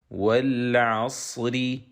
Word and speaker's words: والعصر: So now, ra is sakina, and the preceding letter is sakin, and the preceding letter has fatha. So, ra will be pronounced heavy. والعصر والعصر والعصر والعصر.